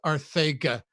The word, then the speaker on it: Arcega: have dirt cheap JJ Arcega-Whiteside. By the way, it's not a lisp. It's actually pronounced Arthega.